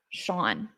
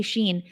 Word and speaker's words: Sean: Now, when it comes to this word, Sean, I so bad every time want to say Sheen. So bad. Why? Because there's no W, there's no H in Sean, but that's how you pronounce it.